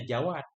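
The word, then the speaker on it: جواد: Ini jawad, mudah-mudahan nggak pakai tasydid ya. Atau boleh juga jawad atau jawad. Tapi kita lihat di mukadimah kita i'anah, di sana bacanya jawad, nggak pakai tasydid.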